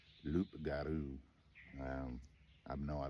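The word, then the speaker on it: loup-garou: have to forgive me the loop Guru Luke some people call it a rugaroo I think the actual French pronunciation of it something more similar to Luke garu um I know I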